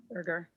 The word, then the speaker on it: Berger: Burger. Hard G.